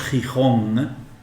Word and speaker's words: Gijón: cada vez y van cuando decimos gijón termina igual que hong kong la pronunciación nuestra esto